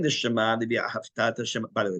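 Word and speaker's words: ואהבת: If you say V'ahavta, not only is it wrong, you might have to repeat you've never said Shema, because V'ahavta means and you loved. It's V'ahavta. The accent's on the last syllable.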